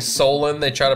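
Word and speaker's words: Salem: my oh my favoritest people instead of saying Solem they try to pronounce so they're like where's salon or soloed like what sir and we sir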